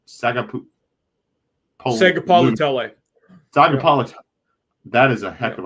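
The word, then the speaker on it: Sagapolutele: at Cal, Duran Q Sagapalitele. That is a heck of a pronunciation by you right there. That's impressive. It's like, I guess it's like Tagovailoa.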